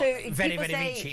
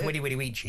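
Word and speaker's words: veni, vidi, vici: A V is pronounced as a W, because it's not... Exactly, because it was a U. Yeah, so it's not very, very Vici, it's Winnie Winnie Weechy.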